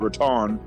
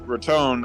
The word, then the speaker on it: Raton: And from Conchas Lake, I was going to go to Raton, which is actually spelled Raton, but they pronounce it Raton, Raton.